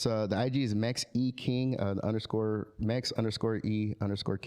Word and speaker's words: Mex E King: It's the IG is Mex E King, Mex _ King. The E is like the brand, right? So E, not an I. So like so Mex E King.